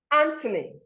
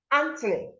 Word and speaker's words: Anthony: Anthony, Anthony, that's the person's name.